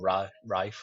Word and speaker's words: Ralph: We've got is it Ralph or Rafe? I don't know how he likes to pronounce his name.